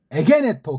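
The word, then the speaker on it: ἐγένετο: 에게네토 그렇게 읽는 거예요. 에겐에토 세 글자로 발음을 할 수 있어야 돼요. 에게네토라고도 읽지만 에겐에토 이렇게 읽어야 돼. 이렇게 이거 만약에 에게네토를 작곡하고 우리가 성악을 한다면은 에겐에토 이렇게 듣는 이가 들을 수 있게 발성을 하셔야 돼요.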